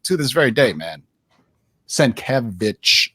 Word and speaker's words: Sienkiewicz: Sienkiewicz, it's in his Twitter. That's how you say it.